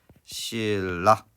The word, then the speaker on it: 신라: 그래서 얘가 얘한테 영향을 줌으로써 발음은 신라 이렇게 만들어지게 됩니다.